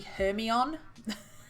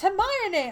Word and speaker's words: Hermione: getting she was so confused because the girl pronounced Hermione hermie on she was like but mommy it's Hermione I was like but I know some people